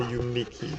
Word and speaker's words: Uniqey: year's Ultimate Typing Championship, the Uniki, that's spelled Uniqey.